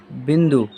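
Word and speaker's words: ب: ठीक है, तो इसे हम क्या बोलते हैं, बे। और इसका उच्चारण क्या हो जाएगा, बा।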